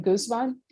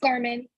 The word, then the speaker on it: Garman: contact and I'm sorry is your last name Guzman it's Garmin Garmin how do you spell